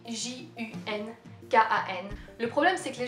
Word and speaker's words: Junkan: Moi je prononce Junkan, mais j'ai le droit des fois à Junkan, ou Junkan, ou Junkan, ou Junkan, des trucs comme ça.